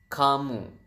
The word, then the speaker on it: kamu: do you say youu youu is kamu so Ka and mo so you have kamu and then how do